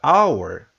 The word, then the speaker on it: hour: E olha que interessante a palavra our começa com H porém o h ele é mudo Portanto o som que vai contar aqui é o som do eu do o por isso que a